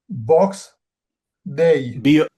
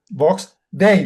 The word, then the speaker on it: Vox Day: Box. Box day. No. No. Just spell it. V. Vox. Vox day. Like days like Monday is a day box day.